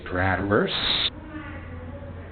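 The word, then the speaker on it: Bradwurst: My name is Bradverse. How do you spell that? B R A D W U R S Tor like the sausage.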